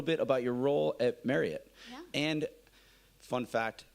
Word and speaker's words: Marriott: about your role at Marriott yeah and fun fact Marriott it's not Marriott Marriot like Chariot exactly I learned that